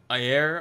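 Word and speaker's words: Ajer: If I was going to go for another one, it'd be Ayer, I think is how you pronounce his name, A-J-E-R.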